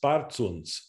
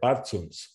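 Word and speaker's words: բարձունս: So, so for example, the word in the highest, bartsuns, there's not much aspiration there, bartsuns, whereas zorutians, there is that aspiration at the end.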